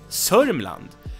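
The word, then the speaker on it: Södermalm: Alam and Oakland and tsardom island also has an alternative pronunciation which is sodium land and that's why that's because D and E get dropped it's completely normal that D and E get dropped in Swedish we have a bunch of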